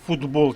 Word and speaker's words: футбол: до дзвінких зверніть увагу ми пишемо футбол через літеру Т але вимовляємо звук д вокзал пишемо через K